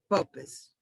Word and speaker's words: purpose: I heard purpose, and there was a thing on the R being rounded up. It's just purpose.